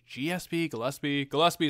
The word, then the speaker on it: Gillespie: Gillespie is how it's pronounced in the game.